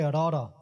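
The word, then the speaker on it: ੜ: In English, in Gurmukhi we say Rara. Rara is just like in English you say R, but it's different. Because Rara has to hit the roof of the mouth twice. Rara.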